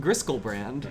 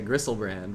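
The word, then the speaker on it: Griselbrand: No. Because he'd pronounce it Griskelbrand. Oh. Fair enough. I mean, I know you're trying to get me to get him to say Grisselbrand by accident. But he would add the K in there somewhere. There's no way he would accidentally pronounce that word correctly. Oh, man.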